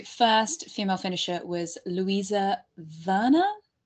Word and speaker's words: Werner: The first female finisher was Luisa Werner. It's German, so I think the W is spelled like a V.